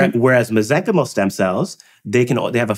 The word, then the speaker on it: mesenchymal: Whereas mesenchymal stem cells, they have a finite ability to grow. So they don't keep growing, which is why they're safe. And so when we grow the mesenchymal stem cells, the soup that they grow in,